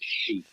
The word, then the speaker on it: Xi: pronounced As an X X is pronounced as sh so x y x i is she oh yeah I'm going